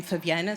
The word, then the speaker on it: Fabiana: Uh, my childhood name was banana because it rhymes with my name Fabiana.